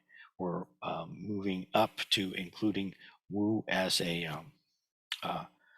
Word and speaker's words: 無: we we already discussed the character Wu no or moo uh uh as Western Zen students are more likely to pronounce it and in the last